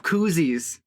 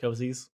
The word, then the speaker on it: koozie: before i realized that they weren't pronounced cozies no that's fair i think koozie is a brand term too isn't it